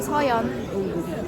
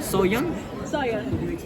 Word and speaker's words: 서연: You can call me 서연. 서연. Soyeon. 서연. How can you spell it?